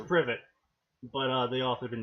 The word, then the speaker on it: privet: it set actually how that's supposed to be pronounced no it's privet but they all have been installed prove it